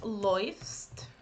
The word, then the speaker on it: läufst: here you should pay attention to the pronunciation. So it goes like, just a second, it goes like du läufst, es läuft. So the combination of these two, it's oi.